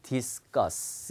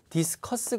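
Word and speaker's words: discuss: 쓰 때 그 다음에 디스 가스 이런식으로 자 디스 가스 이런것도 디스커스 가 아니라 여기 soc 가 있잖아요 그러니까 발음이 디스크가 쓰고 이렇게 바른 되니까 한번 해 보세요 여러분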